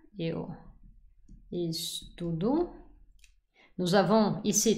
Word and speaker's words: estudo: de vous dire que c'est toujours l'avant-dernière syllabe qui est la syllabe forte. Donc, eu amo, eu gosto, eu estudo.